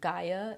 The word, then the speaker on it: Gaia: believe in the style Gaia is how you say it ga IA so I'm gonna throw